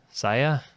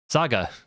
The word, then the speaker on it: SaGa: Sia Saga. That's that's a G.